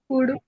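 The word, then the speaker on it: could: डी एस एच ओ यू एल D sorry कुड कुड कुड यस but some times what is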